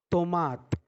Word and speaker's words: tomate: Next one is tomate. T is pronounced like t, like taraju, like talwar in Hindi.